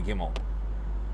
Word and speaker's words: Kimmel: Can't pronounce Kimble on the side. Now that he did that, it's in my head right now. But um Jimmy Kimmel, see I just he was saying Gimble like oh my god really.